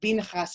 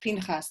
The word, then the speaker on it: Pinchas: pants um saying we're pronouncing the the pr the principal's name binhas instead of pinchas that whole mixing up